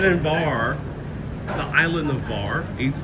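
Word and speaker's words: Hvar: Beach instead and bar the island of Var is spelled H V A R as the creations pronounce it.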